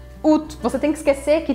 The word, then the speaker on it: août: bem estranha, porque se escreve août, mas se pronuncia août, août.